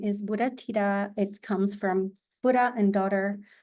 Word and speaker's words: Buddhathida: declare so to revisit again my name is Buddha Tita it comes from Buddha and daughter so it's